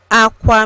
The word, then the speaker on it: akwa: words and phrases today's e word is AA Aqua means bed learn how to say it by